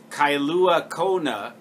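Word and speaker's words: Kailua-Kona: totally cool I remember admonishing him to pronounce my name and town correctly kyua Kona Havi he said Kona that was good enough everybody knows that's kyua Kona and he pronounced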